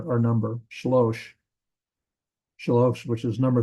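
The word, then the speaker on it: שלוש: It's shalosh and shlosh. That's it's just slightly pronounced slightly different.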